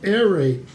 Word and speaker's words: aerate: So, aerate, A-E-R-A-T-E. And it'll say just 2 syllables, not aerate.